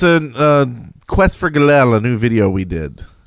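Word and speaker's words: Gallell: do a search for galel on youtube we'll be the first one it's g-a-l-l-e-l-l it just sounds like you're mispronouncing glee or something yeah it's a horrible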